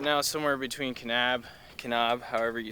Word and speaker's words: Kanab: More specifically, we are planted right now somewhere between Kanab, however you say it. How do you say it, Brian? Kanab.